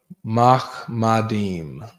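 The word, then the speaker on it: מחמדים: Mahmadeem is how to say it in the Hebrew.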